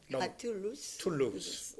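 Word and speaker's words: loose: small small 그다음에 헐렁 루스 네네 그래서 그 루스의 그 발음이 중요한데 loos 이거든요 그 발음은가 형용사로 쓰 쓰이기 때문에 루스라 그래 루스 너무 헐렁해 네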